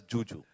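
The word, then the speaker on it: Zhu Zhu: Nothing was shown of the Chinese actress Zuzu, who's there in the film. Yeah, sorry sir. So it's written as it's written as Zuzu, but she pronounces it as Juju.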